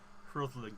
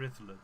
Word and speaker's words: Rhuddlan: it's not far from Rhuddlan Castle, or Rhuddlan Castle as I should pronounce it.